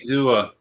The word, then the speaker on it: Zua: Say it for me, Emilio. You always have to pronounce that name. Zua. A Ziggy. Diggy Zua. Diggy Zua. Sounds like a dance we did in the 90s.